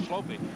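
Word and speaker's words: Schlopy: An interesting thing about this guy by the name of Schlope, his name is spelled S-C-H-L-O-P-Y.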